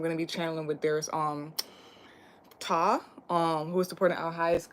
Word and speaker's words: Ptah: And Ta is also a creator of all or whatnot. So yeah, and it's spelled as Ptah.